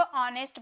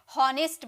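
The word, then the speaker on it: honest: ईमानदार को ऑनेस्ट बोलते हैं। बहुत सारे स्टूडेंट इसे होनेस्ट बोलते हैं। एच है ना इसीलिए होनेस्ट। नहीं ऑनेस्ट। एच साइलेंट रहता है।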